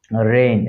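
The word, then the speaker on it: reign: এস আই জি এন সাইন এক্ষেত্রে মাঝখানে দীর্ঘ উচ্চারণ করতেছি না এরপর হচ্ছে আমরা রেইন রেইন মানে হচ্ছে শাসনকাল রেইনের ক্ষেত্রে আমরা দেখতেছি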